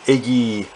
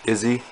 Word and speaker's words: Iggy: comments one thing about izzy can you tell can you i said the name wrong too iggy iggy like a lizard exactly you can't tell